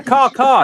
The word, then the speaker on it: KAW: Yeah, Caw. Yeah, that's how you pronounce it.